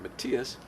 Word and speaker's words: Matthias: hip, he said, "Matthias," this is how I pronounce my name, "Matthias, if you want to be a good doctor, you have to be a good researcher."